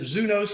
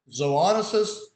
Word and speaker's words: zoonosis: three terms all right is it zunos es zuntic no zoonosis zoonosis zootic right let's go to Wikipedia